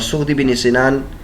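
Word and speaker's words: صغدی بن سنان: میں سے ایک ہے، اور سغدی بن سنان کا جو تلفظ ہے وہ یہ ہے کہ ضم المہملہ یعنی صاد بغیر نقطوں والے کے ضمے کے ساتھ، کبھی کبھی یہ صاد کو سین میں بھی بدل دیا جاتا ہے، سین مہملہ یعنی سین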